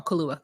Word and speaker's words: Kaluuya: I said his name wrong. Kaluuya.